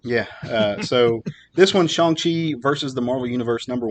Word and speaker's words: Shang-Chi: wanted to read was shang chi number one true apparently that's we've all been saying it wrong we've been saying